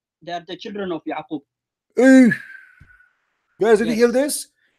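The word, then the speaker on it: يعقوب: They are the children of Yaqub.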